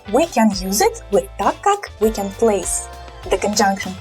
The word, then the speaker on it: так как: So ТАК КАК. This word КАК is not really accented. So again, ТАК КАК. It sounds just like one word, basically.